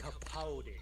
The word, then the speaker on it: Capaldi: it's pronounced Capaldi.